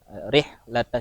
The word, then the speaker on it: رحلة: Kemudian untuk dari segi tajwid ada catatan sedikit saat membaca, harokatnya jangan sampai terubah ya. Rihlata syita, rihlata. Tadi terbacanya reh.